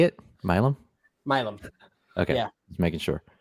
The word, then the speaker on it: Milam: Milam. Okay. Yeah. Just making sure. My sister-in-law, East Texas, that's like her great-great-grandmother something. I don't know. It doesn't. But anyway, it's Milam. Oh, shout out to Milam County.